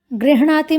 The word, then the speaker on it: गृह्णाति: गृह्णाति में पहले हकार है, उसके बाद णकार है। गृह्णाति में री सुनाई पड़